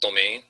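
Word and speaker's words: demesne: identified with the uh de mesni is that how you say it yeah it's pronounced domain but the is the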